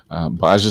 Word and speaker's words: B'ajj: it it's a series the swords of baj baja is how it's pronounced and actually baj is a conglomeration of